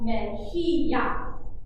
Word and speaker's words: mejilla: Spanish, you can see there's a J in this word. The J actually makes a sound. There's also a double L. I don't know if you probably all know. Llama in Spanish is actually llama. The double L makes a ya sound. So this is kind of a different word. This is la mejilla.